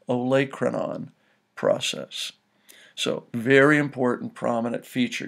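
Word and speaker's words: olecranon: look at the letters in the word it's pronounced oanon process so very important prominent feature you should know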